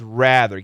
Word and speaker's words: rather: rather rather yeah uh this my recommendation to you for the pronunciation rather rather stick with rather get that short a stretch it out rather rather social media